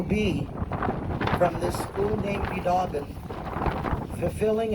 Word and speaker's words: Biidaaban: And the incentive will be from this school named Biidaaban fulfilling its own prophecy, which will be more or less the day will come.